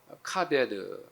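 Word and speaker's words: כבד: 이제 이 히브리어는 알파벳을 거꾸로 읽어요. 그래서 여러분들 오른쪽에 있는 희한하게 생긴 문자가 카 발음이 나고 그 다음 문자가 비 발음이 나고 그 다음 문자가 느 발음이 나는 거예요. 모음이 없는데 이 단어 자체가 카베드라는 단어예요.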